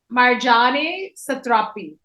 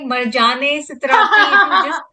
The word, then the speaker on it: Marjane Satrapi: which is a biographical diary of the author Marjane Satrapi. How do you pronounce it? It's Marjane, and I was like Marjane Satrapi.